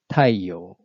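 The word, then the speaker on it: 太陽: examples example a so this down step mark indicates that the pitch drops from the next motor after that marking so the pronunciation is taiyo on the other hand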